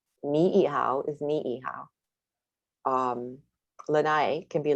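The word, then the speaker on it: Niʻihau: Ni'ihau is Ni'ihau.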